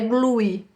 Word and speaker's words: glue: A gente não pronuncia o E no final, tá? Não é glue, é glue. Termina aqui com o U bem forte, glue.